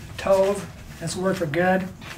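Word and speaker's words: טוב: And they spell it T-O-B, but it's like T-O-W, but it's really like with a V, Tov.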